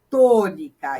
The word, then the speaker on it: tônica: ela aqui com acento olha a palavra tônica também a mais forte é a antepenúltima então ela tem atento